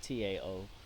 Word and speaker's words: Tao: Taoism is how it's pronounced, but it's Tao.